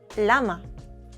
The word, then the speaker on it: llama: Llama. Can you fix it? Llama, with ya sound.